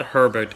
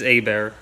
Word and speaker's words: Hebert: It's not Herbert, it's Abear. It's Hebert, not Herbert.